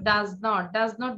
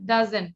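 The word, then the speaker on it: doesn't: হ্যাঁ, অনেক কিছু ভুল ছিল, লাইক এটা কিন্তু শর্ট ফর্ম, তুমি বলেছো ডাজ নট বললে হবে না, ডাজেন্ট, সবাই উচ্চারণ করি ডাজেন্ট।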